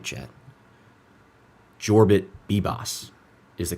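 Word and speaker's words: Yorbit Vivas: Jorbit Bibbos is the correct pronunciation.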